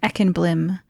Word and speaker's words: Ekenblim: And I pronounce that Ekenblim, but you can pronounce it however you want.